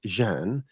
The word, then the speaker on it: Can: Everyone, can, pronounced Jean, my friend Johnny.